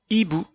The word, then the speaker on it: hibou: Hibou, hibou. La première lettre est la lettre I. Et regardez comme il s'écrit. Eh bien, le mot hibou commence par la lettre H, mais qui ne s'entend pas.